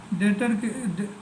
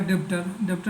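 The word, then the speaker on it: debtor: डेटर कोई पढ़ेगा डेप्टर नहीं पढ़ते हैं क्योंकि बी साइलेंट होता है, डेटर कहते हैं।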